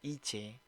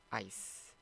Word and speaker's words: ice: Oke, jika kalian mengucapkannya ini dengan seperti ini, IC, itu salah ya. Kurang tepat. Nah, ini kurang tepat ya. Dan yang tepat adalah ini. Ice. Saya mainkan. Ice, Saya ulang. ice, ice, Ice ya.